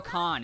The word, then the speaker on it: Kahan: But the Noah Kahan? Oh, Noah Khan is how you say it.